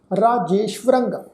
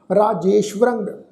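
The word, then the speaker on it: ਰਾਜੇਸ੍ਵਰੰ: ये जोड़ा शब्द आ रारे नूं कन्ना, जजे उते एकला, फिर सस्से दे पैर में तुसीं देखो अद्धा वावा अखर जिहड़ा वो व्यंजन लगा हुआ है। फिर रारे उते टिप्पी की मात्रा, टिप्पी की मात्रा का नासक उच्चारण करांगे।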